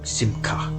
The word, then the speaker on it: Simcha: Simcha is pronounced Simka, right?